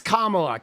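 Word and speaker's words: Kamala: SAY her name right, dude. Oh, dude, that annoys me. You know, it's Kamla.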